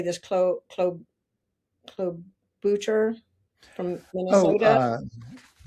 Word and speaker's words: Klobuchar: Clo- Klob- Klobuchar from Minnesota. uh Klobuchar. Klobuchar, thank you.